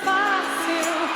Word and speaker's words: Fácil: Fácil. Fácil. Fácil. Fácil means easy. Notice how the IL is pronounced ew, like you just saw something gross.